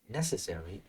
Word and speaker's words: necessary: that be wrong okay the stress is in the first one not the second one huh first syllable necessary not necessary NE go